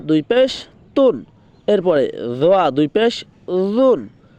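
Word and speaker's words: ظ: জটার উচ্চারণ কোথা থেকে কোথায় হবে? আপনার জিব্বার আগা সামনের দুই দাঁতের আগার দিকে লাগিয়ে বলতে হবে দোয়া দোয়া।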